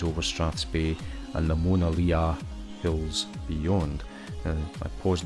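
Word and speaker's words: Monadhliath: strats Bay and the monaa hills Beyond and I paused there for a moment it's probably bad gall pronunciation sounds more like Mona Lisa as a we dip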